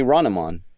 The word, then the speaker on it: Hronimon: Like you pronounce the H and then you say Hronimon.